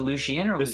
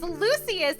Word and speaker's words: Lucius: missed uh i mean is it lucian how dare you pronounce my god's name wrong it is lucius and he is the